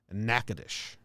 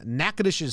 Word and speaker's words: Natchitoches: Natchitoches.